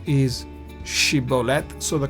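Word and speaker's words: שִׁבֹּלֶת: Shiboleth was supposed to be correct, whereas the Benjamites pronounced it wrongly. We read about it in the Bible. They pronounced it siboleth instead of shiboleth.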